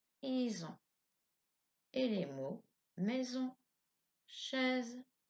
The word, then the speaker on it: chaise: Et les mots maison, chaise, bisou. Dans tous ces mots, le S se prononce Z car il se trouve entre 2 voyelles.